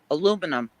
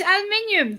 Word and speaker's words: aluminium: Aluminum. Schedule an aluminum. No, it's aluminium, damn it. It's aluminium, it's how it's spelled.